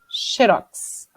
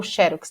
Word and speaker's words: Xerox: com o tempo virou só xerox ou xérox não tem as duas pronúncias oficiais aí você for falar